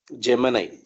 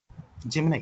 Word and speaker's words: Gemini: In India, especially in South India, we call it as Gemini because of that movie.